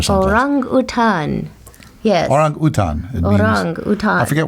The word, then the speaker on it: orang utan: its actual original pronunciation is orang utan. I think that's a basketball player from Yugoslavia. Anyway. Well, that's how you would say it if you were in Kuala Lumpur or something.